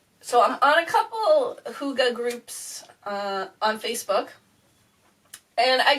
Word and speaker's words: hygge: you anything new I always thought it was hi hi G by going how it looks like it's spelt but I actually only recently in the last month or so found out it's actually pronounced hygge and I saw a really interesting definition for